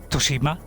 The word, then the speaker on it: Tsushima: I mean, when it comes to serious games, you know, games I absolutely love, like Ghost of Tsushima, which apparently is how you say it.